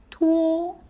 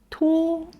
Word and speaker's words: 托: The word 托 ends with o sound, which requires your mouth to round and end o. Say it with me. 托.